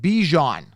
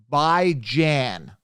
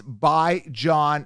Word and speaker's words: Bijan: e a w-e-e-k-l-e-y whatever bi-weekly right bi-monthly right so it's by John Robinson I want to